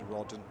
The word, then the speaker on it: Rodden: his mum and dad, and it's Rodden, and I got the pronunciation wrong on a former commentary, and Mum wasn't particularly happy for her boy, so it's Rodden.